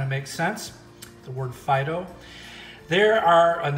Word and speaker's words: phyto: So I guess that kind of makes sense, the word phyto. There are, and that's spelled P-H-Y-T-O, not F-I-D-O, like phyto.